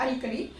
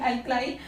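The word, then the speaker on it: alkali: हैं they are called एल्कली। एल्कली या एल्कलाई भी बोल देते हैं, इनका प्रोनाउंसिएशन एल्कलाई।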